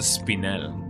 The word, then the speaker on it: spinel: We got another another spinel. It is supposed to be pronounced Spinel. Although although I do pronounce it as spinal because of spinal from uh from uh what is it called?